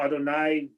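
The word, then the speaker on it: יהוה: Adonai, even though Adonai is, it's not spelled Adonai, it's spelled Yud He Vav He, right?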